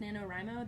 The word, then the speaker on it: NaNoWriMo: what that stands for i don't even know if it's pronounced nanowrimo that's how i pronounce it i've heard other people pronounce it different ways but it's national novel writing